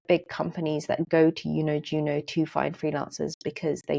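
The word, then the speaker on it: YunoJuno: In fourth place is somewhere like Yuno Juno. So that's spelled Y U N O J U N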